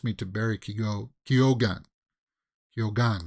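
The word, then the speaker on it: Keoghan: to Barry kigo kyogan kyogan right here again because he pronounces the g in it he does uh so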